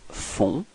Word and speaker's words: font: Okay, so you get this nasal on, on. Okay, and then the final T is not pronounced. So ils font.